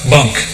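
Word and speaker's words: bench: Bunk. Yeah, this is a Taylor slept on it? Well, no, actually, it's just good old Maine country terms. It's spelled B-E-N-C-H, but it's pronounced bunk.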